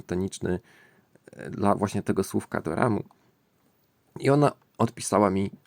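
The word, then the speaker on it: ドラマ: do ramu, czyli perkusja, w standardowym tokijskim akcencie ton słowa do ramu najczęściej jest płaski, tak zwany hean. Czyli wysokość głosu pozostaje taka sama na wszystkich sylabach, bez gwałtownego spadku po żadnej z nich. Wymawiasz więc wszystkie trzy sylaby na podobnej wysokości bez podkreślania żadnej z nich tonem opadającym. No ale ja drążyłem dlatego,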